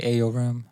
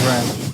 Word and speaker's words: Rem: I was about to say Ayo Ram. It's Ram. Just Ram. Nothing else. There's no AO Rim in there? Nah. Thank just Ram. R-E-M, spelled with an R-E and an M.